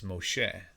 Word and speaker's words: Moshe: But if you didn't know that, Moses, a lot of people don't know that even Moses, his name isn't Moses, it's Moshe, right?